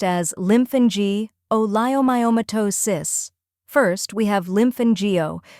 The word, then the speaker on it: lymphangioleiomyomatosis: The word is pronounced as lymphangioleiomyomatosis. First, we have lymphangio, where lymph is like in lymph node, an is short and clear, and geo sounds like geo.